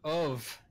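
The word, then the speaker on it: ubh: Oh F all right so of actually is the gaelic word for egg that's one of the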